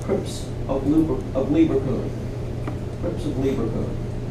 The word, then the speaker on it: Lieberkühn: Crypts of Lieberkühn. This is a German word, Lieberkuhn, and to spell it correctly, you have to put this thing with 2 dots on top of the U.